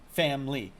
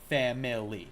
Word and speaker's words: family: Um native English uh speakers will often do family and like I just did. Family in two syllables and second language English speakers will do it in three. Family.